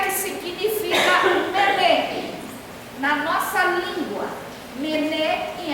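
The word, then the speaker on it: מנא: A primeira palavra se pronuncia Mené.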